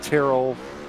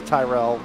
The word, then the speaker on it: Tyrrell: Now, okay, first quick question for me, because Sam pronounced it Tyrrell, Pat's Tyrell. Which one is it? Sam would be correct. It is Tyrrell. Oh, so Tyrrell. Okay, so we apologize for saying I your name wrong apologize. all night long. No problem. It's of Irish descent, so it's a common mispronunciation.